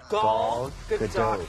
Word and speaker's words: Gal Gadot: It is once and for all Gal Gadot.